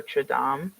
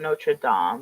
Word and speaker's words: Notre Dame: notra Dame notor notra how do you say it now I'm like really intrigued how you say it no notam oh notra yeah yeah yeah that's probably the right way that's probably the correct way I am an uncultured